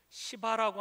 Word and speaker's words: 시바: 사울왕의 시종인 시바라고 하는 사람이 있었습니다. 발음을 잘해야 되는데요. 예. 이름이 시바입니다.